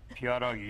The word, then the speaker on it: pierogi: I did okay with the pronunciation. Pierogi.